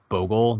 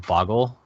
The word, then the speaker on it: Bogle: So, can we make the argument that it's pronounced Bogle, not Boggle?